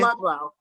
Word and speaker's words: Ludlow: Ludlow.